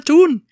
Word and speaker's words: town: Because that's how locals pronounce the word town. Okay. And they also put forward a serious argument that this is how town should be pronounced, regardless of your accent.